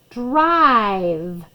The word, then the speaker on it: drive: i there's the eye there's our v and we have that silent e not doing anything but just telling that i to say his name drive give yourself another